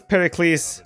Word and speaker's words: Pericles: I pronounced very close I know it's it was Pericles okay but where I am from we pronounce all the names like with s at the end so I apologize sorry